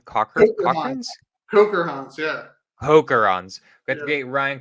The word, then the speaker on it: Kocherhans: Ryan how do you say your last name Coker homes yeah hookerons that's great Ryan cokerons he is an amazing guy multi-family gangster one